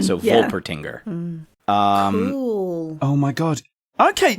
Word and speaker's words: Wolpertinger: I have a Wolpertinger. Tinger. Okay, I mean I fell at the first hurdle. Yeah. Yeah, Wolpertinger. I was pronouncing the W like it was in German. So yeah. Wolpertinger.